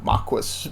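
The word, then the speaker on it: marquesa: nobleman and they've uh marquessa is maki maki marquez you know it's not pronounced marquis but marquis is a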